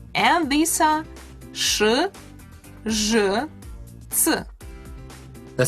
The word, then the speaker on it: ц: Another consonant which is always hard is ц. Ц consists of two sounds pronounced together, t and s. So to say ц, you pronounce t and s together and very close to each other.